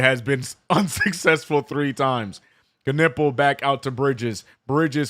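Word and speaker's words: Knueppel: Handing the ball over to to Ball as Konopel gets killed or sorry. I I keep saying Konopel, but it's actually pronounced Knippel.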